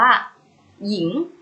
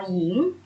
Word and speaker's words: หญิง: ตัว ที่ นำ เช่น คำ ว่า หญิง หอ ยอ อีก โง่ หญิง ให้ อัด ออก เสียง พยัญชนะ ยอ หญิง หงาย ให้ อ่าน ออก